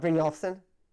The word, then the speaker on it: Brynjolfsson: In fact, bro, I'm sorry, I don't know how to pronounce. Brynjolfsson?